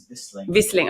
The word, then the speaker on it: Westling: They've changed their name a bunch, led by Ton Westling. That's not how I pronounce the name that you said. How do I pronounce his name? Westling.